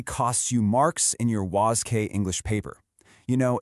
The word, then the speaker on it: WASSCE: Okay, we are looking closely at the WCE English exam which is officially pronounced was.